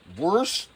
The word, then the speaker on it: Worcestershire: Worcestershire. That's how you pronounce it.